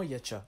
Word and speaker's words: Hacha: La seconde est son nom, Hacha, qu'on prononce apparemment Yacha.